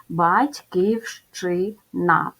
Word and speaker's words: Батьківщина: звук а голосний звук батьківщина в цьому слові буква ща позначає два звуки а м'який знак звуку не позначає Тому кількість букв та